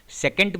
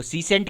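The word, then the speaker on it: secant: आप इसका कोई भी प्रोनाउंसिएशन कर सकते हैं, सेकेंट भी कह सकते हैं, सीसेंट भी कह सकते हैं। तो सीसेंट क्या हो गया, एक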